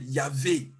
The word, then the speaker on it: Yahweh: In the Hebrew, it is YHVWWH, but they pronounce it Yahweh.